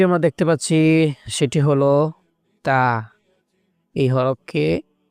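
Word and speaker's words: ت: বা বা এরপরে যে হরফটি আমরা দেখতে পাচ্ছি সেটি হল তা এই হরফকে তা বলা হয়। এ হরফের উচ্চারণ হবে জিহ্বার আগা সামনের দাঁতের দিকে লাগাইয়া এ উচ্চারণ করতে হবে।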